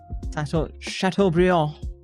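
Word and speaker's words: Chateaubriand: I will say Chat B, which is a correct correct pronunciation, is much nicer than Waggy beef. I think Waggi is great, but like chat bond is like the actual uh fillet steak.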